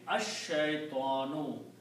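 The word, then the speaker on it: الشيطان: will become शैतान also when you pronounce लाम with sheen then the sound of लाम इज not pronounce because this is अ Shamsi letter अ शतान अ शैतान वड बा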